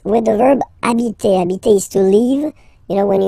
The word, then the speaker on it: habiter: just because, of course, it's starting with H, but as I said, you don't pronounce it. So the first sound you hear here is the vowel.